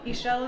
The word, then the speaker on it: Ixchel: have to tell us what is what is Michelle Triangle what does it mean okay everybody usually has a hard time that name it is pronounced Michel triangle he shell is the Mayan goddess of fertility and midwifery